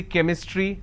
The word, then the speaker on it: chemistry: for example change but when I have the word chemistry CH becomes Cur sound so I say chemistry I say Chrome so